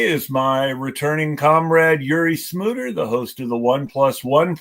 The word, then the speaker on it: Smouter: Although, for once, you actually mispronounced my last name. Smouter, yes, Smouter, not Smooter.